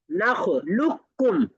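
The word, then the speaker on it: نخلقكم: নাখ লুক্কুম নাখ লুকুম লুক্কুম হবে মাঝখান থেকে কফ উদাও যদি আমরা এখানে কদাখালু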